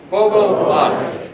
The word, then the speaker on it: Gbogboade: The G is silent. Gbogboade. Say it with me. Gbogboade.